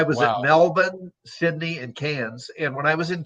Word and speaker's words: Cairns: it's melbourne so uh they don't pronounce their r's so so melbourne is melbourne and carnes is pronounced cans so i was at melbourne sydney and cairns and when i was